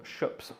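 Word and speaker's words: Schoeps: from a German company called shops s c h o e PS shs that's how you pronounce that and they have a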